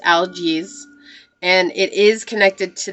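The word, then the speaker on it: Algiz: an alphabet the old Nordic alphabet okay it's pronounced algaes and it is connected to the animal elk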